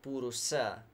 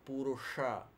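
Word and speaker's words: Puruṣa: for Abajo Purusha Karim not purusa but Porou ha the deep soft pooja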